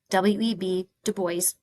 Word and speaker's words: Du Bois: Back then, W.E.B. Du Bois, rhymes with voice, and Booker T.